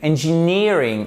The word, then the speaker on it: engineering: Et là, justement, vous avez votre accent tonique très exactement sur le N, le 2E et le R. Engineering.